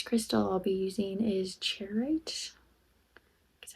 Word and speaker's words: charoite: The next crystal I'll be using is charoite.